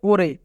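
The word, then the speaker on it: 올해: তারপরে হিউত আছে তাই রিউল বাচ্চিমটি হিউতের স্থানে যাবে এবং উচ্চারণ হবে ওরে ওরে মানে এই বছর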